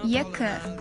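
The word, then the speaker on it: екі: So the second is two, and two in Kazakh language will be yekı.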